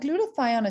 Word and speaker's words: glutathione: people repeat you know think about glue the tie on right glue the tie odd if you want to